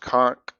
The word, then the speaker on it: xonsh: This is it's pronounced conch, but it's spelled Zonch, Xonsh.